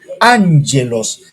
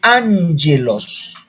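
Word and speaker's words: ἄγγελος: el vocabulario estamos en la lección 7 gelós angelos cuando la la 22 y dos gamas se unen la primera al pronunciar les n angelos angelos ya así se pronuncia angelos por eso alumno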